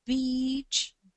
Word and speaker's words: beach: ogromną uwagę na wymowę, zwłaszcza długich samogłosek i tu akurat w tym słowie jest to szczególnie ważne, ponieważ mówiąc beach, mówimy słowo plaża, wymawiając to krócej, niestety wymawiamy słowo niecenzuralne i czasami może się to okazać niezbyt fortunnym zabiegiem. Czyli zawsze lepiej przesadzić i powiedzieć za długie i niż za krótkie.